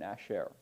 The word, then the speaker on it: asher: Yeah, the stress is on the final syllable, the sher in asher. So it's asher, not asher, but asher.